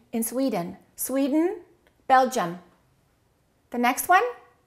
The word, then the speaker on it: Sweden: Sweden. Two syllables. Which one is stressed? The first one. Okay. What happens to the second one? Sweden. Sweden. Sweden. So don't say I am from Sweden. Say I'm from Sweden.